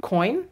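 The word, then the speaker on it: Quoin: I'm gonna go into this shade here, which is called, can't pronounce that, Q-U-O-I-N, coin.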